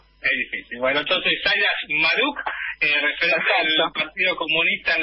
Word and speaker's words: Chmaruk: Y yo lo pronuncio Shmaruk, pero mira, somos 10 primos con ese apellido y yo creo que todos igual lo pronunciamos de alguna manera medio diferente.